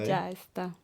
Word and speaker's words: ya está: That's actually 2 words. It sounds like 1 word. Yeah. So Ya está. it's actually ya and está, which means that's all. Really, really useful phrase. Ya está. So ya está, put them together, ya está.